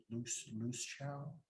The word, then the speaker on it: Luciao: But yes, how do you say it? Loose chow? Yes. Luciao group.